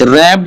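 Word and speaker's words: wrap: रप the rest watch रप में भी क्या है डब्लू साइलेंट है और रेस्ट में भी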